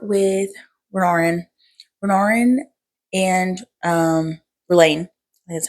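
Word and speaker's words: Rlain: Renarin and um, Rain, that's how you say it, the singer.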